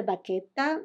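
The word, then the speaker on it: vacchetta: it in terms of the baketa and that's the right way to pronounce it is in Italian which is an unfinished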